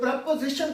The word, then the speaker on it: preposition: जैसा कि स्पेलिंग्स पे हम देख रहे हैं, यह है प्रीपोजिशन, लेकिन इसका प्रोनाउंसिएशन जो है उसमें ओ साउंड नहीं आएगा। हम इसे पढ़ेंगे प्रेपोजिशन। ये श्वा साउंड होगा और इसकी ट्रांसक्रिप्शन ऐसे करेंगे। इसमें जो प्राइमरी स्ट्रेस है वो जीशन पे चला जाएगा, सेकेंडरी स्ट्रेस जो